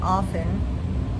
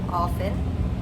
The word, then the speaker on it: often: Here, they're saying that often is a silent t. But in my research, it seems that now it is acceptable to say either way, often or often with a T or a silent T.